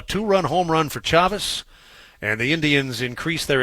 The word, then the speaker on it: Chavis: innings and it'll bring chavis to the plate uh chavez i should say michael chavis c-h-a v-i-s pronounced chavez he was hit by